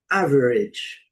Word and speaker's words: average: Terminação AGE. Vai pronunciar esse som et. O A tem som de I. O G tem som de J. E o e não é pronunciado nessa combinação.